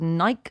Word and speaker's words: Nike: I've Well, I've checked the archive, and then all we've got after that is Dan saying that Nike is pronounced Nike like Mikey.